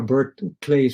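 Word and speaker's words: BirdCLEF: is what it's called the bird clay or bird clay's french hence i do not pronounce the f the bird clay task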